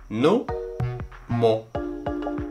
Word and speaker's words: numo: Nube, kumo. Y solamente me quedo con una sílaba de cada una. La primera y la última. Nu-mo. Y los junté, numo.